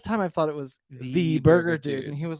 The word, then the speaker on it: Thee Burger Dude: Watson AKA Watson AKA The Burger dude it's actually just the burger dude so it's spelled t-h-e-e Burger dude on social media and website but it's the burger well yeah he had